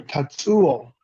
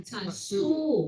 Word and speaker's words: Tatsuo: That is Dr. Tatsuo. Dr. Tatsu. That is my first name. Tatsu can be also used, but it's Tatsuo.